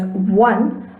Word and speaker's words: one: Similarly, in the word such as one, the initial vowel is pronounced as the sound v, and hence in such cases the indefinite article a should be used.